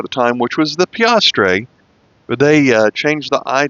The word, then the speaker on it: piastre: This is going to be the first coin we looked at, the 1 piastre, not plastre, the 1 piastre from 1946 to 1947.